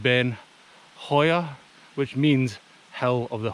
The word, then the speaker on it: Beinn Chabhair: you say this so it's spelled shabir wrong ben shabir but it's pronounced ben hoya which means hell of the hawk but yeah